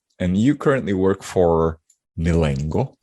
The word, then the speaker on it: Milengo: you currently work for milango am i saying this right yes milango that's right do you do your